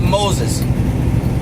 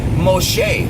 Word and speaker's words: Moshe: Yes, I'm talking about Moses or to pronounce his name correctly, Moshe.